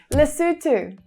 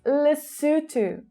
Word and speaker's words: Lesotho: Lesotho. Okay, this one I have been saying incorrectly for my whole entire life. It's not Lesotho, like I've been saying, but it's Lesotho.